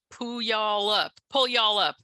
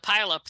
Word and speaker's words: Puyallup: Well, for the Southerners, I always just say pronounce it pull y'all up. Yeah. Like you can get the y'all in there, pull y'all up, and then that's closer than the pile up that they usually say, or whatever it is.